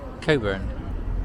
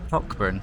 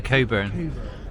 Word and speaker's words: Cockburn: Are you going to pronounce it properly? Do you know how to say that? Coburn. Well done. Yeah. Most people say it cockburn like it's spelt. Yes. But it's actually courn.